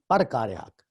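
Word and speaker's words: پرکارِ حق: پرکار حق، اس کے اوپر زبر ہوتی ہے، اس کا تلفظ جو ہے پرکار حق.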